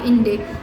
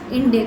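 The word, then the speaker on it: Inde: The word हिंदू इन French pronunciation became इंडे। अब जो हिंदू word है वो फ्रेंच में लोग क्या बोलते हैं, उसे इंडे।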